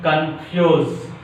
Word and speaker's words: confuse: The fourth rule is some disyllabic verbs. Some disyllabic verbs express on which syllable? Second syllable. Some disyllabic verbs which express on a second syllable.